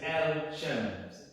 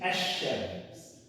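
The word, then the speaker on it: الشمس: So you can say al-qamar, but you can't say al-shams. You say ash-shams. Right? So because it is a sun letter, it absorbs the L, it erases the L basically, and it makes it two SHs.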